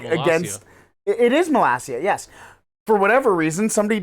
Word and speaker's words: Malacia: It is Malacia, yes. For whatever reason, somebody decided not to tell the Europa League commentators the entire match. Malacia, Malacca.